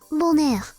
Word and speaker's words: bonheur: Bonheur. Bonheur. Bonheur. Bonheur. Oh, fuck. You know what it sounds like? Boner.